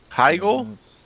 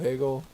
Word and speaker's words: Hegel: from then until now Heigl yeah Heigl Hegel I call him Hegel he had no it's the German pronunciation I think it has an i in there no it's just h-e-g-e-l oh then maybe it is Hegel the inventor of Pagel